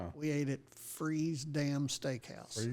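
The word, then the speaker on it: Fries: Well, I happened to see this thing that said, and I guess it's pronounced freeze. F R I Essreeze. Freeze.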